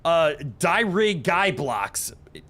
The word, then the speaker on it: Dirigiblocks: Dirig guy blocks is the correct pronunciation for Dirigiblocks, and I'm proud of myself.